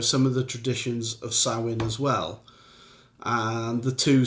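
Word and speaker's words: Samhain: a thing called um well it it reads Sam hang but it's pronounced sawin okay which was a a Celtic Pagan festival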